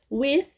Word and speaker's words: with: With, mais um som do TH, esse aqui também é sem voz.